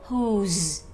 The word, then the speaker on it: who: Vậy thì từ đó mình gọi là bị câm chữ W và chỉ đọc là whose, who, who, được không các em?